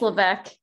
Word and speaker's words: Levesque: It's Levesque. Levesque? But yeah, I don't say the S. That's why the S is silent.